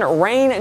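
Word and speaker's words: Rayne: Dak was actually born Rain Dakota Prescott, and yes, you say it like rain.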